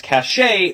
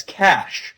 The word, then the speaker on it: cache: some people mispronounce as cache when it should be pronounced as cash like the money.